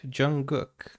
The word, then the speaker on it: Jungkook: So the K is, the K is silent. Jungkook.